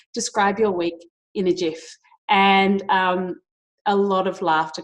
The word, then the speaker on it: GIF: with content number 5 Jif off which is pronounced jif, but I still say gif with a hard G and drive my husband